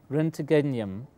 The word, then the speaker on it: roentgenium: has an name which is really difficult to pronounce renum which is named after ran the discovery of